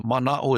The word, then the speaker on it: mana'o: and or I think my grandparents was the mana'o is knowledge.